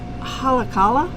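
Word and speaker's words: Haleakalā: going to massacre how to say this but halacala no you nailed it nailed it yeah so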